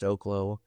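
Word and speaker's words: Oklo: I think the industry on the whole needs to do better, but Oaklo, I think it's pronounced Oaklo.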